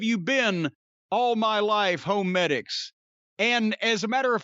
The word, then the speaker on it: HoMedics: and by the way that's home medics even though it's spelled h-o-m-e-d-i-c-s when i first heard